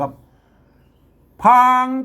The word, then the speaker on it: พราง: เป็น จินดา พาง ไม่ ใช่ พราง นะ ครับ ไม่ ต้อง ไป อ่าน ปะ ละโฮง ให้ อ่าน เป็น พ เฉย ๆ นะ ครับ พาง แตก แตก แตก เง